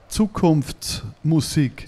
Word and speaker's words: Zukunftsmusik: So we're going to talk about your new album, Zukunfts Music. Future Music. Yeah. Did I say it right? Zukunfts Music. Not bad. Zukunftsmusik.